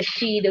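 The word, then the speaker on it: sidhe: the the she moves and working with the sheet which is the face if you don't know as the S idhe which is pronounced she as in sha e so a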